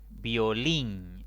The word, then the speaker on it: violín: debo ponerle una tilde violín es una palabra de dos sílabas contando de izquierda a derecha la mayor intensidad cae en la última sílaba termina en consonante n